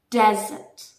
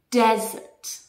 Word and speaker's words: desert: discover the real english like pronunciation how to pronounce words vocabulary expressions in english so let's let's get started number one desert desert this is the place okay the sahara desert